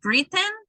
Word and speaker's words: written: So like in this row, it's not written, tighten, no, eaten, forgotten, gotten, no. So it would be written. It's just the n sound. Written, tighten, eaten, caught, gotten, forgotten. That's how it works.